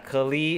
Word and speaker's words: Klee: But yeah, Klee is how it's pronounced in the game.